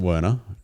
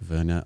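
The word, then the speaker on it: Wernej: spelled wrong yeah Williams um so we pronounce it Werner there's probably a more correct European membership okay Verna I don't know um but yeah it has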